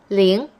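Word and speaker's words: 零: numbers for now though zero is ling in the second tone ling one is yi two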